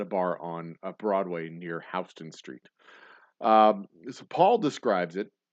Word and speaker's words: Houston: near Houston Street, which is spelled Houston and pronounced properly Houston, but in New York they call it Houston because they're Dutch.